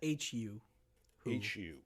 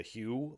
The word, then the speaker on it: The HU: a mongolian metal band that's hu hu yeah when i first heard of them i called them the hugh which was an intentional mispronunciation just to differentiate them from the who uh the who is